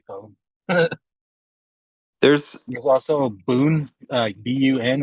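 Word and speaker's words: bún: there's There's also boon, bun. It's just bun, but they pronounce it boon.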